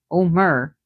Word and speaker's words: Homer: She had Omar. That's how the Greeks would pronounce it because they didn't pronounce the age.